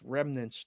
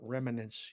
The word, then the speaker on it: remnants: It's remnants, not remnants. You added Remnants. a syllable Remnants.